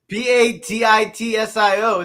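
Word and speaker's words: Pastitsio: but like Have you ever heard of Pastizio? No, I'm not making that if I don't know how to pronounce it. Pistachio? No. Patitsio.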